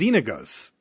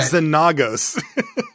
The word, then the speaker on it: Xenagos: It's Xenagos. It's not Xenagos.